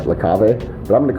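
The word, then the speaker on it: La Cave: today at lake cave i don't think it's pronounced the cave i should believe it's like lacave but i'm going to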